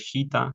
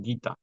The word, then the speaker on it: Gita: que se me pasó la g se pronuncia como si tuviera una u siempre Al lado por eso no es gita sino gita los temas que discuten